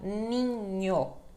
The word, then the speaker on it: ninho: vai sofrer uma variação quando ela tem a letra H em seguida né e uma vogal depois que daí ela vai ter o som deha né então ninho ninho né então é isso